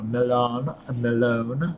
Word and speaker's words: Millon: So we have a little bit of reading this time from Disorders of Personality by Theodore Malone. It's spelled Millon, so Malone, and other variants thereof.